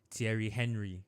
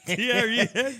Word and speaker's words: Thierry Henry: At that time, because we were in Nigeria, we didn't have the right pronunciation. So we would always call him Thierry Thierry Henry. Thierry Henry.